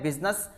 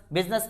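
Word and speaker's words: business: एक वर्ड मैंने यहां पे लिख रखा है बिजनेस, बिजनेस में एस है वो साइलेंट रहता है।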